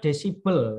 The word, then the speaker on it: desibel: bunyi dengan satuan db db itu dibaca desibel ya bacanya desibel ci20 db7 debit namanya